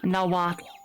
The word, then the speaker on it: Nahuatl: the name of the language is Nahuatl. Now what? What? Oh, that's So hard to it's pronounce.